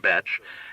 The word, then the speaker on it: Bech: "Henry Bech," he read, pronouncing it Bech, and Bech confusedly stood.